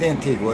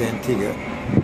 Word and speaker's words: Antigua: and we're leaving Antigua it's not pronounced Antigua it's Antigua and there's one ship